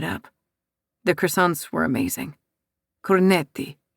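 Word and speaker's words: cornetti: Corneti, he corrects. I'm Italian princess and not French. Coretti, I say, testing the word out.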